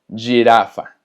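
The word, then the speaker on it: girafa: Pero muy importante, cuando la G tiene después una I o una E, se pronuncia G y Y. Por ejemplo, jirafa, jirafa, que significa jirafa.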